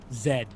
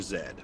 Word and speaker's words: zed: just the letter Z you know what they call the letter z in Canada Zed Canadian pronunciation for the letter z z is acceptable as well but if you want to sound like a Canadian go for Zed I like Zed so